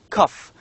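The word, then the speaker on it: cough: these two words photo cuff these two words the first one cuff ends with gh two letters combined letters g and h but the pronunciation of these two is only f the second one is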